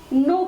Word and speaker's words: know: अंग्रेजी में हम देखते हैं KNOW शब्द लिखा जाता है, लेकिन उसका उच्चारण नो किया जाता है।